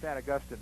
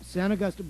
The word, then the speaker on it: San Augustin: But everybody in the area pronounces it San Augustine now. San Augustine.